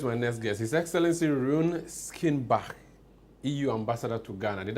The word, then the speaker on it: Rune Skinnebach: His Excellency Rune Skinnebach, EU Ambassador to Ghana. Did I pronounce that right?